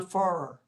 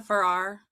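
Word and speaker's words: Farrar: Clyde James Verde, Clyde James Verde, Paul Adameck, Paul Adameck, Anna Farer, Anna Ferrar, Anna Ferrar, thank you for Thank you for letting me for correcting my pronunciation.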